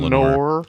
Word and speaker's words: Lenore: Yeah, he's always lamenting the loss of Lenore.